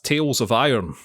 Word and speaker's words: Tails of Iron: like it and that's tales of iron which is what i have been playing and it's tails it's spelled t-a-i-l-s and i'll tell you